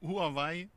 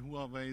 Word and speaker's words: Huawei: wie wird's richtig ausgesprochen Huawei ist passt schon ist schon schon die richtige Aussprache die chinesischen Kollegen sagen no Huawei aber hier in Deutschland mit Huawei sind wir schon schon auf dem guten Weg okay dieses Rechenzentrum was